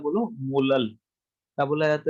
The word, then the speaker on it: molal: अब जैसे capital M को मोलल मोलर पढ़ा जाता है, वैसे इसको कैसे प्रोनाउंस किया जाता है? बोलो मोलल।